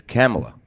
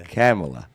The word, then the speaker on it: Kamala: if kamala's in charge no it's camela whatever you pronounced it wrong it's camela it's not my president